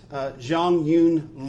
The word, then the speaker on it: Jeongeun: Her name is Jeongeun, and we pronounce it Jeongeun Lee. In Asia, they usually start with their last name. So she actually goes by Jeongeun 6 back home, but here we call her Jeongeun Lee6.